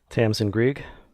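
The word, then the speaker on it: Tamsin Greig: I'm not going to pronounce her name because I don't know how to. But Tamsin Grieg.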